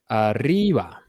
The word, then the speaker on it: arriba: What about arriba? Does it have an accent mark? Yeah. No. Does it end in a vowel? Yes. So where is it? The second to last syllable. So it's arriba. It's not arriba. It's not arriba, right? It's arriba. Okay.